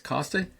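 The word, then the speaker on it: Koste: Again, it's 2028 Jace Costa. And let me spell that last name.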